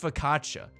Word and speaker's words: focaccia: word it's like f-o-c-c-i-c-c-i-a it's pronounced focaccia and it's a bread okay kids are loving